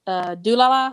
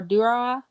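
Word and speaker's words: Durarara!!: you seen I'm gonna mispronounce it, Dulala or Durara? It has like exclamation marks at the end of it. It's, like a Dorara. Yeah. Yeah, Durara.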